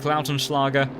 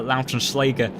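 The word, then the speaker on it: Lautenschläger: schleger uh excuse me i think after listening back to tetra dax uh our german speaking commentator i will trust his pronunciation on the german names i do believe that is uh lautrenschlager uh so i shall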